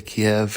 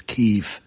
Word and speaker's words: Kyiv: So the 40-mile-long convoy is heading into Kiev, or Kyiv, as they're saying on the news. Maybe I've pronounced it wrong all these podcasts, but I say Kiev and it's Kyiv, right?